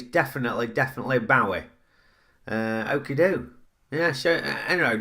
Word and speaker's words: Bowie: And it couldn't be Zoe Bowie, because it ain't spelt the same as Zoe is spelt. So there it is, that's cleared that up for you. It's definitely Bowie.